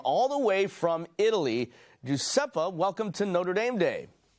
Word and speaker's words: Giuseppe: Giuseppe, welcome to Notre Dame Day. Hi, nice to see you. Thank you for having me. Absolutely. Actually, the pronunciation is Giuseppe.